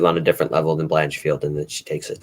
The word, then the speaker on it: Blanchfield: I'm going Branchfield. Or you didn't know how to pronounce her last name ever. You just said Branchfield. You said Branchfield. No, okay. I said Blanchfield.